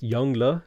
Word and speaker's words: Yongle: last minute comments potato his name is pronounced yongla you mean yongle dude